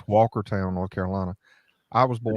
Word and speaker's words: Walkertown: live is called it's Walkertown North Carolina I was born you pronounce it Walker Town Walker Town Walker Town it was